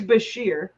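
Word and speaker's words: bichir: They kind of look like a bicher, or a bashir, or a biker, however you want to pronounce it. I'm sorry. They like don't look like a bite. First of all, it's bashir.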